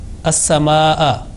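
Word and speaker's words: السماء: So this word is not complete without pronouncing Hamza with Fatha. As-sama'a.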